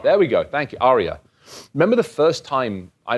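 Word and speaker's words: Aria: that hotel ARA there we go thank you Arya remember the first time I remember going out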